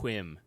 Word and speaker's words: whim: I don't like gambling on chances and whim. That's not. I really appreciate your pronunciation. My pronunciation, yeah. Whim. Whim. You got to throw the H in.